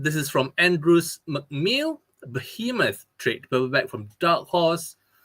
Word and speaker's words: Behemoth: Behemoth. Yeah, that's how you say it. However you pronounce it, okay?